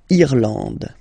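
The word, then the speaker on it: Irlande: it should pronounce it should be pronounced like e eand irand okay n d and final uh not pronounced irand okay remember this J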